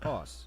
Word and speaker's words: osu!: The official pronunciation is OS, as confirmed by the developer.